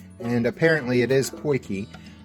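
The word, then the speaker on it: potjie: is spelled p-o-t-j-i-e but we googled the proper pronunciation and apparently it is porky porky is a small cast iron pot with a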